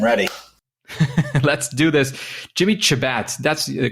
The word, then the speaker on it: Chebat: engage I am ready let's do this Jimmy chabat that's the correct pronunciation is that decent at least uh it's close Shabbat is Shabbat Shabbat yes that sense so Jimmy